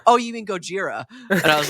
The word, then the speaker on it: Gojira: So, Oh, you mean Gojira?